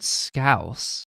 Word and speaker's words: Scouse: I think this next one's pronounced scoos. It's a stew. That said scouse, which just means the Liverpool accent. Like someone from Liverpool is a Scouser and they have a Scouse accent.